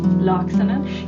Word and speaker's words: Laaksonen: Laaksonen.